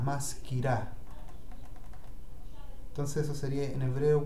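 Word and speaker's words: מזכירה: Ah, los femeninos terminan en A, maskirá.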